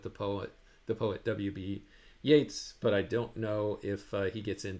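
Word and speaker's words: Yeats: you is it pronounced yeets like the word beats or is it pronounced Yates like the word gate or Gates it's pronounced Yates like the word Gates ye's last name follows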